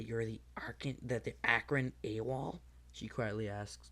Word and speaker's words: Akron: rumors of an AWOL from Arkin Akron been saying it wrong I have an a